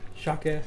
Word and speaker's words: Jacques: I believe the S at the end is silent. Jacques.